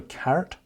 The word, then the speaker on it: caret: It's called a caret, but not spelled like that, spelled C-A-R-E-T.